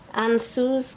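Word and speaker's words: Ansuz: Ansu's God, mouth.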